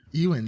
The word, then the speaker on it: Ewan: Like Evan, but with a W.